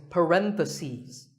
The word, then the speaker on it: parentheses: If you're talking about both, the plural is parentheses. The last syllable becomes C's.